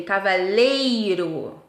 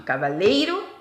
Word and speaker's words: cavaleiro: não são tá bom na verdade elas são paroxítonas a sílaba tônica é a penúltima cavaleiro e cavalheiro tá é o e